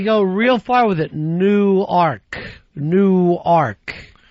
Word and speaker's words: Newark: of Delaware and uh all the locals down there call it's New Arc, Delaware, excuse me. Yeah. And they get really pissed off if you call it Newark.